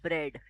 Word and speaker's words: bread: So if you see in the first word, we are pronouncing our letter R. We are saying bread, right?